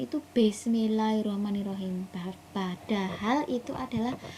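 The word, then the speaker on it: بسم الله الرحمن الرحيم: tua ketika anak mengucapkan Bismillahirrahmanirrahim itu Bismillahirrahmanirrahim, padahal itu adalah pengucapan yang salah. Jadi kita sebagai guru itu harus benar-benar tahu dan paham bahwa pengucapannya adalah dengan bukan B tapi bis. Jadi Bismillahirrahmanirrahim.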